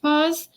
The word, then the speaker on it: Paz: keys and cat paws her last name is literally pronounced paws so cat paws meaning